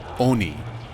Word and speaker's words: Oni: pronouncing the Japanese word Oni correctly. That it should be O as in like on, like an on switch.